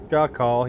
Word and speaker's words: Shakal: Shaw call, yeah, Shaw. And then call like C-A-L-L. Is how I'd write it out, S-H-A, and then I'd split it and say C-A-L-L to give a pronunciation sounding.